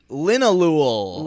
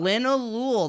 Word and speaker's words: Linalool: give me the name linalool linolul that's what we decided the pronunciation pronunciation is l-i-n-a-l-o-o-l and it a groovy